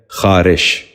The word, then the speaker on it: خارش: تیسرا لفظ ہے خارش۔ یہ غلط تلفظ ہے، درست تلفظ ہے خارش۔ دوبارہ غور سے سنیے،